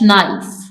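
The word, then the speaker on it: knife: the fruits with dash नाइफ नाइफ का के silent है एन कॉन्सोनेंट है इसलिए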